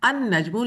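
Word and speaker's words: النجم: अल अल बैतु जबकि देखने वाली बात ये है कि जब नजमुन पर आपने अलिफ लाम दाखिल किया है तो लाम की साउंड नहीं आ रही बल्कि डायरेक्ट आप अलिफ से नून पर जा रहे हैं। अन नजमुन लाम यहां पर साइलेंट है।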